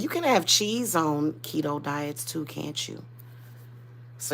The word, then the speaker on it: keto: saying it definitely helps key oh is it pronounced keto I thought it was Cato I've been calling it Cato this whole time